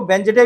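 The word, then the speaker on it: Wednesday: वेडनेसडे को वेंसडे भी बोलते हैं, इसका सही उच्चारण वेंसडे है, प्रोनाउंसिएशन।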